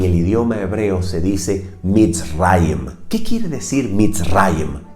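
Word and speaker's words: מצרים: hebreo egipto en el idioma hebreo se dice beats rhymes que quiere decir mis rayos en hebreo es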